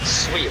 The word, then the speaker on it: suite: And she said, "Yeah, you pronounce it sweet like the word sweet, like candy sweet."